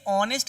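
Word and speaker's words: honest: ठीक है, यहाँ पर आप लिखिए, ये देखिए ऑनेस्ट लिखा हुआ है।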